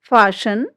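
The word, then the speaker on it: fasten: Rules हमारा क्या कहता है, STEN या STLE से अंत होने वाले कई शब्दों में टी जो है वो साइलेंट रहता है। स्पेलिंग से देखिए, लिसन, फाशन, काशल, ऑफन, ये जो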